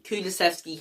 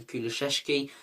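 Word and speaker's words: Kulusevski: player for me kulasvski kulasvski has to get in now I still think he's underrated by opposition fans a lot of opposition fans can't even pronounce him they call him kulasheski but look I'm gonna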